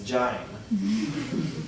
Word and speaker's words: join: can see doesn't rhyme unless 10 Generations ago Alexander Pope pronounced join as Jin so goes vows and